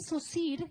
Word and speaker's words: Saussure: Coloqué el Saussure entre dos backslash, dos líneas, bueno, yo las conozco como backslash, y porque es así como se pronuncia. De pronto en otros países yo he visto que lo pronuncian de diferente manera.